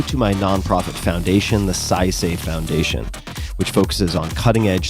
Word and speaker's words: Saisei: Punch Coffee, go to my nonprofit foundation, the SciSafe Foundation, which focuses on cutting-edge scientific research and other uncrowded bets.